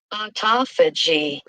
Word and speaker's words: autophagy: let's see pronounce let's see what they say pronounce autoy auto fig okay let's listen are you ready autophagy autophagy Autophagy.